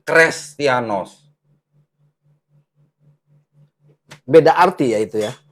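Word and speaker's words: Χρηστιανός: kalau ini menjadi seperti Huruf huruf H atau Eta bacanya ini dibacanya Bukan kristianos tapi krestianos beda arti ya itu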